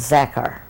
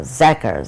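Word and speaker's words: Zakhar: hello could you tell me your name and spell it for me okay my name is maiden name is zackar named after my grandma a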